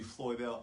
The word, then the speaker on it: Floydelle: say it like this it's a beautiful con pound word floyd floyd if pumpkin is watching flood and then like the computer dell so f l o